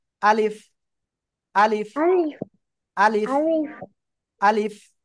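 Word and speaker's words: ألف: আমরা উচ্চারণ করব কিভাবে এই যে উপরের দুই দাঁত এই যে আপনাদের দাঁত আছে সবার দাঁত আছে এই যে উপরে দুই দাঁত নিচের এই ঠোঁটে এভাবে লাগবে আর হালকা বাতাস বের হবে আলিফ আলিফ আলিফ আলিফ আলিফ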